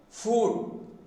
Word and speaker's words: food: Some of the people are pronouncing the word F-O-O-D as food. That is entirely wrong. Of course, as far as myself is concerned, I could say that is the ugly pronunciation. Ugly pronunciation. It should be sounded as food, not food.